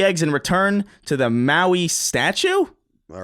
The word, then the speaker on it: Maui: That's spelled like Hawaii. Maui.